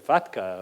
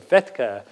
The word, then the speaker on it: FATCA: People pronounce it FATCA or FETCA, but everyone talks about it as the standard.